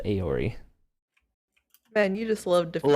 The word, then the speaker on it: Eorie: AE. Eorie. Like Eeyore. Pronounced Aori.